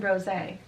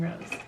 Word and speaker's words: rosé: Sparkling rosé, not sparkling rose. We need to be proper in our pronunciation.